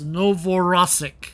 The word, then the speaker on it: Novorossiysk: Big roll of the R, huh? So Novorossiysk. Novorossiysk. That's how you pronounce it, I think. Hard R.